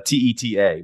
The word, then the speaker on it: Teta: pronunciation I'm Italian background the correct pronunciation is Teta obvious Italian the problem is that means tit in Spanish and so I think we pronounce it Tita because I think my grandparents they came over they understood that when they came to America and they were like maybe we need to change the pronunciation so we go by